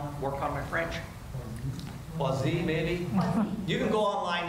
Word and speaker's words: Poiseuille: Poiseuille. law. We can say Poiseuille, I guess is another way. Anybody want to work on my French? Poiseuille, maybe?